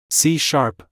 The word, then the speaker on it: C#: C#, pronounced C#, is Microsoft's symphony in the world of programming languages.